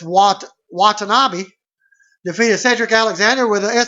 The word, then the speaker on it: Watanabe: I was mispronouncing Watanabe. That's the name, Watanabe. It's Watanabe.